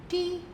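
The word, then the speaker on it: two: है टी डब् ओ अब इस शब्द में मुझे टी की आवाज सुनाई दे रही है ओ की भी आवाज सुनाई दे रही है मगर डब्लू तो बिल्कुल नहीं सुनाई दे रही मगर वह है और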